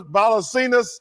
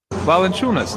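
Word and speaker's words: Valančiūnas: He phonetically wrote it down. Earlier tonight. Okay. Ernie, I talked to Jonas Valanciunas.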